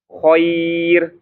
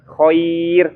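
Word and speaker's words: خير: Jadi bacanya khair. Nah, bukan khair. Nah, khair ya. Bukan khair tapi khair. Ir ya, khair.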